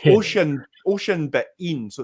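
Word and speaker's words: Oisín: It's like Oshin but in, so it's like Oshin, I think is how you say it.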